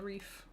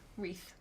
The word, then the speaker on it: wreath: Is it pronounced wreath? Wreath. Wreath? Wreath. Wreath? Wreath. If you say it too much, it's good. I think. Okay, my previous pronunciations of the word will probably invoke some Christmas breath. wreath. I have No. I have went through my whole life, and I have always pronounced it wreath.